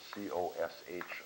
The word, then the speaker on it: cosh: We're going to look at, first of all, a hyperbolic cosine function, written C-O-S-H of x, and pronounced sometimes cosh of x.